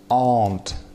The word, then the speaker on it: aunt: Дальше aunt, смотрите, читается как звук длинный а. Aunt. Конечно же, aunt тикаем, потому что здесь о, long sound о, а здесь с двумя точками звук а, широкий звук а, aunt.